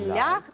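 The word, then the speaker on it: leicht: Ві лайхт брігт дас. Зачекай, дай спробую прочитати. Так. Глюк унд глас ві лайхт. Тут треба букву «я» намалювати. Так. Бо я читаю. «І» читається як «я». Лайхт.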